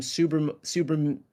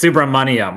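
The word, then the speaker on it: Subramanyam: it's Subramaniam, like money.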